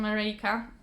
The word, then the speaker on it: Mareika: So I previously stitched a kit from Mareika. By the way, this is how you pronounce it, because it's actually a Polish company, so you can trust me on that because I'm Polish.